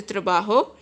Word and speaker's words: trabajo: guys J's pronounces Houghton's penny so it is pronounced a trabajo so what case pronounces the bajo in Spanish